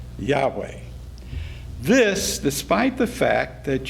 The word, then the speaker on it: Yahweh: page 53 you say no one knows how yhw H was pronounced but it is usually vocalized as Yahweh this despite the fact